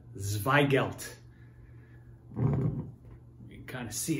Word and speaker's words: Zweigelt: today we're talking about the controversial grape called zveigelt you can kind of see it in this bottle this is vei gelt zw pronounce so zvei gelt is a cross it's